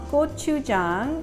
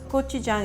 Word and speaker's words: gochujang: you what it's called kochujang and phonetically I'm going to make it easy for you to pronounce gochujang is like the word go chew like chewing aw Chung let's go